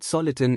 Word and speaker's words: soliton: The word soliton is apparently derived from solitary wave, which being stable acts almost like a particle. Hence soliton rhymes with electron.